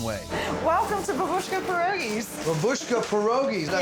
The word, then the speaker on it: Babushka Pierogis: BABUSHKA PIEROGIS, DID I SAY IT RIGHT?